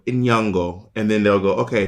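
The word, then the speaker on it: Nyong'o: pronouncing your name properly how do you pronounce your name and then lupita will go in yungo and then they'll go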